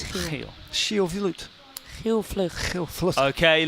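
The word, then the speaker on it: Giel Vlugt: Guys, let's try to pronounce his name right. Heel Vloed.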